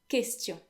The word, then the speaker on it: question: after Q in French, unless the Q is the last letter of a word, you would always find the letter U, but that letter is actually silent. So in English, you would actually pronounce it because the U would kind of like as a W, kind of like act as a W, I meant to say. Question, but in French it's completely silent.